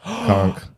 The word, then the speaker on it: conch: GK we're going to settle this k k conk oh maybe you're right let's see conch shell conk that's what they see I know about the